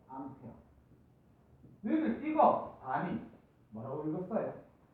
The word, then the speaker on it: 암페어: 기억해야 되 전류의 단위는 a 쓰고 A고 읽으면 안 되고요 뭐라고 읽 읽어야 되냐면 페어라고 읽어야 돼 암페어 너희들 찍어 다니 뭐라고